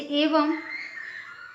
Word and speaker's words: एवं: बिंदी यदि लगती है तो उसका उच्चारण आधा म के साथ ही होगा ठीक है जैसे एवं एवं हम ऐसा भी लिखें तो गलत नहीं होगा इसको एवं ऐसे ही पढ़ा जाता है यदि म नहीं भी लिखा हुआ है और बिंदी है तो भी उसका उच्चारण हम म के साथ करेंगे ठीक है तो एक बार